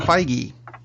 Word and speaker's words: Feige: the movie Wow speaking of Marvel movies Kevin Feige who I'm glad we're now pronouncing that correctly that was that works released